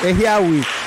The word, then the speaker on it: Ehiabi: Ehiabi. The B is silent.